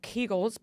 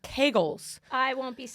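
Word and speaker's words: Kegel: vaginal stretches pelvic floor we got a big argument about keegel apparently they're pronounced Kagel I won't be saying that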